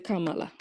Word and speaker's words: Kamala: But before you go, how do you pronounce Kamala? Kamala.